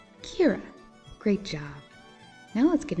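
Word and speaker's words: caora: word sheep in irish in irish you say sheep as kira can you say it with me kira great job now let's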